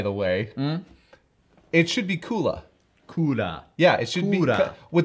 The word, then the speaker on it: Cooler: But in Japanese, do they not pronounce it Kula? Which also could be Cooler. It could have been Cooler or could have been Kula.